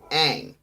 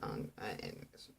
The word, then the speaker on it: Aang: See, to get it, because it's Aang, not Ang.